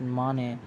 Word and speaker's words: Mane: the once honest cop Namdev Mane, pronounced as Mane, teams up with Carlos' girlfriend Shania, who is on the lookout for hidden diamonds and facing bankruptcy.